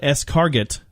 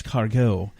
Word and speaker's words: escargot: national Wyoming day national escargot day ah although it's spelled eschar --get yes it is it's escargot national scavenger hunt day